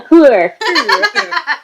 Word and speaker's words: whore: Marcelly at first, I know because she's calling Claire a whore and all that, it's like you don't like her. But You gotta say it right, it's a hooer.